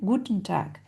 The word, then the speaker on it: Guten Tag: Morgan donc un accent sur la première syllabe. Good morning. Guten Tag.